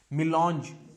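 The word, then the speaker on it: mélange: इसका प्रोनाउंसिएशन है मिलॉन्ज। ठीक है, इसका प्रोनाउंसिएशन आप ऐसे लिख लो आप, MI, ठीक है, मी लॉन्च। ठीक है, मेलांगी नहीं है ये फिर मेलांज नहीं है, मी लॉन्च, MI, मी लॉन्च।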